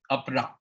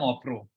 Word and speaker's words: Apra: Okay, Apra. So Apra, the thing is, there are different ways of pronouncing names. In Bengali, Apra would become Opro.